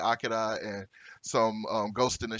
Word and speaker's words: Akira: So Akira itself, Akira, the American pronunciation, Akira, the correct pronunciation, it is a very indelible piece of anime material.